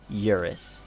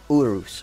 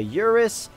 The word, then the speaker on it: Urus: we have the schmergini Urus I know I'm actually pronouncing that wrong I didn't know you know that's not actually how you say yours it's like Urus or something like that I don't care this